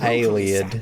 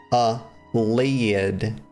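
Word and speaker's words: Ayleid: It's not Aliad thousands of years ago by humans led by Allesia. The Imperial City is built over the ruins of that ancient city. It's not Aliid. It's not Aliad, y'all.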